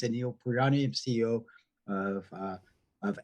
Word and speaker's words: Anil Paryan: bit about myself um just the perfect pronunciation my name is Anil purani I'm CEO of uh